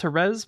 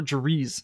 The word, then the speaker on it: Jerez: I'm pretty sure it's pronounced Jerez, but we were in a big Discord call group yesterday, and I think we settled for Jerez. So we're going to start calling this track Jerez.